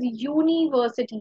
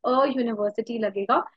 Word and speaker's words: university: say University okay uh though it is written with a u which is a vowel but the pronunciation is University which is with a Y the Y so that